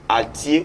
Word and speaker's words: altier: la deuxème est expression aujourd'hui c'est avoir être altier ou altière être altier ou altière s'écrit altier ou altier s'écrit a l t